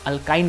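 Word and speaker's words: alkyne: इन a similar fashion triple bond जिसे हम अल्काइन कहते हैं उसको हम आइन से प्रोनाउंस करते हैं।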